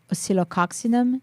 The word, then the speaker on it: Oscillococcinum: yes so I would say here I know psylococcinum is more uh widely used I pronounce that once again oscillococcinum that's for Cold and Flu yes for flu